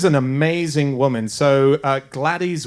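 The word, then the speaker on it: Gladys: amazing woman so uh gladies West um Glades I think it's just GL it's it's spelled with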